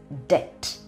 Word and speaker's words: debt: video first word d e but the correct pronunciation is debt d e b t d e BT says